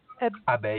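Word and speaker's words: abeille: Now, okay, now pronounce it again, Pierre. Abbey.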